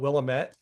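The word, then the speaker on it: Willamette: name of that county you would call it Willilamett.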